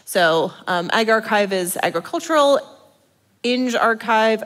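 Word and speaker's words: engrXiv: So Ag Archive is agricultural, Eng Archive, I think we decided that's how you pronounce that, is engineering, Sci Archive is obviously psychology, so forth and so on.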